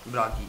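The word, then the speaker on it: Bragi: How do you spell it? Brahi.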